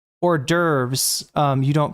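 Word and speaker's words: hors d'oeuvres: It's or derves, right? Um, but uh if you were to say like if you were to follow it up with a a vowel, uh, then you would pronounce the S.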